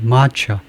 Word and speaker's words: match: 겁니까?이 이 match mature 영국식발면 mat mat차 마차 미국은 좀 가볍게 마차 마차 앞에다 액슨들 두니까 뒤에는 반몸이 됐어요. 마차는 아니고 마처 마처라고 읽는다 이건데요.